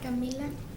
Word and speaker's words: Camila: How do you say your name? Camila. Camila.